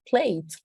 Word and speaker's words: plate: con una t también en ningún caso la pronuncié Sencillamente hice el énfasis en donde hice énfasis en la última conso que me estaban dando Ese es el sonido fuerte que tengo que hacer al final para contrarrestar eso de que esa e está ahí no se va a pronunciar Entonces es bien chévere